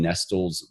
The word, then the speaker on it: Nestle: Nestle like the candy company Nestle but it's pronounced Nestle yeah Marion Estill okay next one what is